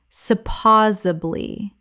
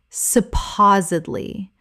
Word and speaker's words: supposedly: Word 282, supposedly, common mispronunciation, supposably, correct pronunciation, supposedly, four syllables with the stress on the second.